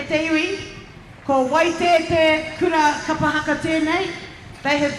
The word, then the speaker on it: Waitati: Anybody know the correct pronunciation? Waitete.